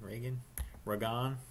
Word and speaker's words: Ragan: Ragan. Rhymes with Sagan.